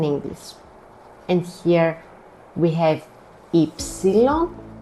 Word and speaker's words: υ: And here we have ypsilon, which is not pronounced as u. Very common mistake again. we pronounce it as E. It's one of the 6 E's in Greek.